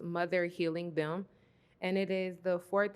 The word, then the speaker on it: Mother Helium: and yeah okay so this piece is called mother helium um and it's pronounced mother healing them and it is the fourth and Final piece